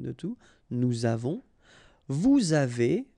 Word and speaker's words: avez: two, nous avons, vous avez, a Z at the end will produce this E sound, avez, little link between the